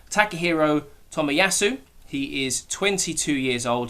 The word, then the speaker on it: Takehiro Tomiyasu: And I believe it's pronounced Takehiro Tomiyasu.